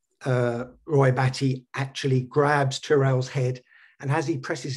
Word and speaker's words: Tyrell: and he's referred to it's pronounced as tyrell in the film isn't it and it's got the first three letters of tyrant and i just thought